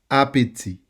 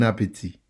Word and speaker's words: appétit: Appetit. Remember, the T at the end is silent. Appetit. Bon appétit.